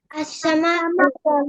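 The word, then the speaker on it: السماء: seven scene তার শরীতে যদি আলিফ লাম আসে উচ্চারণটা কেমন হবে আসসামা সবাই বলো আসসামা আসসামাকু আসসামা অর্থ কি আসসামা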